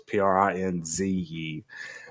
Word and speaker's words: Prinze: So I've heard Freddie Prinze Jr.'s name my entire life. I thought it was Freddie Prince, Prince, and it was not until this movie that I realized that it was Prinze.